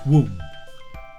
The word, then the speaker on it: womb: is in your mother's womb i told you to be careful with that b sound at the end it's not it's just womb in your mother's womb